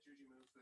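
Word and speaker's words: Jujimufu: Yeah, Juji Mufu.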